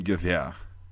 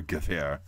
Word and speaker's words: Gewehr: It's actually pronounced Gewehr, right? Or Gewehr.